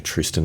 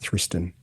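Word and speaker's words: Thriston: Now Tristan Lawrence and I think it is actually a Tristan even though it's spelled Thristan Andy Walker that that's what they were pronouncing. They were pronouncing Tristan funky funky South African name.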